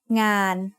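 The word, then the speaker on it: งาน: Ngô ngu, sara'a, nô nú makes ngàn. Ngàn means work. The ng sound of nô nú makes it a live syllable, so it is mid-tone.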